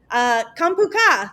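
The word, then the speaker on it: ขอบคุณค่ะ: And Alex, Kampuka, did I say it right? Cop and Cap? Yeah, you did. You said the female version at least.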